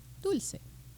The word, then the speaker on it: Dulce: I come from Mexico, and you pronounce it Dulce.